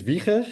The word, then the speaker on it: Wieger: Uh my name is Viker in Dutch.